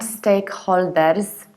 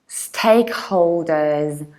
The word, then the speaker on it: stakeholders: is to round holders these are not holders is hold and holding hence holders and reduced ending stakeholders and in the